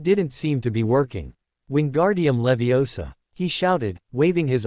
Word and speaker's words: Wingardium: Wingardium Leviosa, he shouted, waving his arms around. You're saying it wrong. Hermione finally snapped hotily. It's Wingardium Levi Osa. Make the gar nice and long.